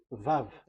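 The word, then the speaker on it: וָו: So the way we read it is VAV.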